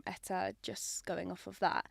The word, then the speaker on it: Etta: Can you share a little bit of the story behind the name Etta Collection. Is that how you pronounce Yeah, it?